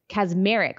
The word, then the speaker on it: Kacsmaryk: Okay, so there was a judge, a Trump-appointed judge, and his name is Matthew Kacsmaryk. Kacsmaryk. Also had to look at the pronunciation of that last name to make sure I had it correct.